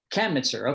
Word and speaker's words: Kamnitzer: David Kamnitzer. Hope I'm pronouncing that right, Dr. David. And accents on the first syllable. Okay. Kamnitzer. Kamnitzer.